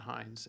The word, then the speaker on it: Hynes: If you want to check out his music, it's his last name is spelled Hynes, Ron Hines, and definitely worth checking out.